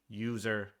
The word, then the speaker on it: usr: /user, USR is often pronounced user, even though it is not user, the word, it's USR. /user /lib is where libraries, resources that those programs use live, etc., etc., etc.